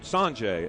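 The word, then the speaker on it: Sauget: Once again, we're coming to you live from GCS Stadium, and it's Sanjay, Missouri, and it's spelled Sanjay, S-A-U-N-G-E-T, Sanjay, Missouri.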